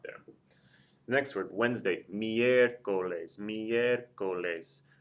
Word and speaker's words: miércoles: The next word, Wednesday, miércoles. Miércoles. The E is the third or more syllable back, accent mark over it.